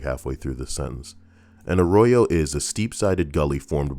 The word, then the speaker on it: arroyo: We came to the arroyo, just before the creek pool. The hell's an arroyo? Arroyo. It's literally pronounced like a gringo would pronounce it.